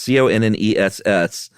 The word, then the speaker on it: Conness: And one of them was a senator in California named, I don't know if it's pronounced Conness or Conness. It's Conness.